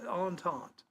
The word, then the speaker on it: entente: Yeah, entente. And I had to look up how to pronounce it because it's spelled E-N-T-N-T-E.